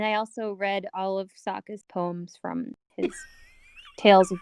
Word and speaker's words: Sokka: my boomerang that's right i'm sokka it's pronounced with an akka young ladies I wrapped